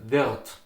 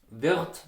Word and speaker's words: wird: You would say, for example, wird. Wird becomes wird, okay? Do you hear the difference? Wird, wird, wird, wird, wird. Okay, so the R, it's transformed to an A.